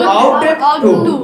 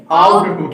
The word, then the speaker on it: ought: Can, could, may, might, must, shall, will, should, would, ought to। ठीक है, इसको ought to पढ़ते हैं, ought to नहीं, ought to। ठीक है, GH silent, Yes. GH here silent, pronunciation of GH is silent, this is a pronunciation right is ought to।